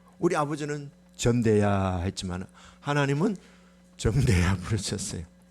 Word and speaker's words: 정대: 우리 아버지는요, 정대라는 이름을 발음을 못했어요. 전대야 그랬어요. 내가 맨날 돈 주면 이러보신가 봐. 전대야, 전대야. 어릴 때 아버지한테 그 말은 못했고, 아버지는 왜 이름을 똑바로 안 부르지? 전대야가 뭐예요? 정대야 이러지. 정대야.